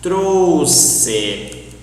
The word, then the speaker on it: trouxe: Trouxe, lixo, for example. But lixo it's an exception. But follow this idea. You need to pronounce as a S. Trouxe.